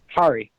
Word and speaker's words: Kari: Kari. The Cosmic Garden? Like driving a car. Oh, you're driving a car. What have you got for Adam? It rhymes with a car.